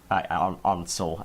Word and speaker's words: Ansel: Ansel. I know I'm pronouncing it quite German, but that's how I hear it.